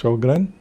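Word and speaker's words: Sjögren: So that is so the spelling is very complicated pronunciation. Uh shogran yes shogran lupus rheumatoid arthritis only then they happen they don't happen overnight loss of tolerance.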